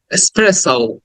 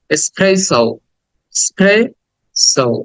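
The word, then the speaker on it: espresso: দেন 27 এসপ্রেস স্প্রেস এক্সপ্রেস লাস্টে একটা ও sound আছে স্প্রেস spray so spray so এসপ্রেস সো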